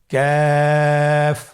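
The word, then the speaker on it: كاف: আবার বলুন কাফ। কাফের মাখরাজ আমরা স্ক্রিনে দেখতে পাচ্ছি। কাফের মাখরাজ হলো জিহ্বার গোড়া থেকে একটু আগে বাড়িয়ে তার বরাবর উপরে তালের সঙ্গে লাগিয়ে উচ্চারিত হয়।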